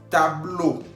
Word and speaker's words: tableau: Tableau. Tableau, que significa pizarrón. Estamos viendo al final, tableau lleva E-A-U, que se pronuncia O en español.